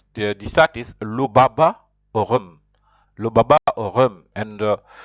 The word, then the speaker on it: rhum: You have to pronounce it like r, r, r.